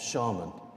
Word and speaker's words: shaman: fulfilling the role of shaman, or shaman, you can pronounce both.